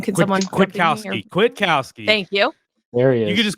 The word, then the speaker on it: Kwiatkowski: I wish I could pronounce Pete's last name. Can someone? Kwiatkowski.